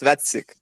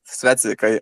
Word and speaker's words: Svetsik: So about CV96, so it's Svetsik. Just Svetsik. I asked him before the spaces, so I would know exactly how to pronounce it.